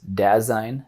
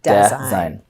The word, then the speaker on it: Dasein: It is Dasein Health. So that is the correct pronunciation. And don't let anybody tell you otherwise. Dasein.